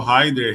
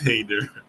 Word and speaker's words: Heiner: If call Hyder, Hader, Hinder, to me it's normal. Uh, but it's Hader.